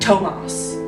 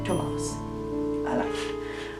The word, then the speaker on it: Tomos: is our main character and her good friend thomas is how i've decided to pronounce that yes it's spelled t-o-m-o-s tomas all right random plot generator so aiden our